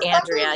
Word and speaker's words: Andrea: I have all these some people pronounce it Andrea Andrea Andre it's like oh I know I know there's a lot of different ways to pronounce it what it is Andrea you had it right here anyway I